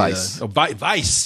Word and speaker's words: Weisz: Rachel Weisz, as I said, is the Weisz. Rachel Weisz. Say it like a Nazi. Rachel Weisz. There's no V in that name.